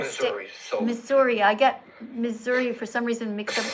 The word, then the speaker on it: Missouri: I get Missouri for some reason mixed up with Wisconsin. I don't know why, but anyway, Missouri. They call it misery here. How do you say it? They say it's misery.